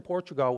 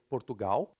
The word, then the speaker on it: Portugal: In Brazil, you say Portugal. By the way, the L at the end in Brazilian Portuguese, we don't pronounce like all, we pronounce like U.